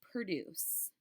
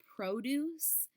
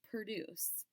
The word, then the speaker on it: produce: forth the word is produce the word produce means to bring forth now if we pronounce that word as produce then it usually means fruits and vegetables like there's a produce